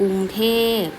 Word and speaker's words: กรุงเทพฯ: เจ็บ นะ คะ เขา ว่า กรุงเทพ อ่าน ว่า กรุงเทพฯ กรุงเทพ ก็ เป็น วง หลวง ของ ประเทศ ไทย